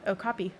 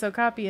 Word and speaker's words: okapi: Okay, okapi.